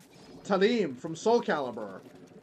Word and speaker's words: Talim: So maybe her name is supposed to be pronounced Talim.